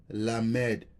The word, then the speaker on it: lamed: of the Hebrew alabed is called lamb pronounced lamed right the same how I saying lamed or L lamed right and has the sound